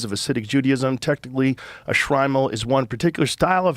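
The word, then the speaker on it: Shtreimel: Shrimal. Shrimal. Yeah. Uh the Shrimal was adopted by Eastern European Jewish communities in the 18th century and coincided with the rise of acidic Judaism. Technically, a Shrimal is one particular style of hat.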